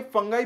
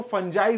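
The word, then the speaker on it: fungi: अब यहां पर देखिए फंगाई मैं बोल रहा हूं। इसको फंजाई भी बहुत सारे लोग प्रोनाउंस करते हैं।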